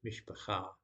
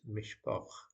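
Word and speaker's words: משפחה: For example, the Hebrew for family is mishpacha, but in Yiddish it's mishpoch.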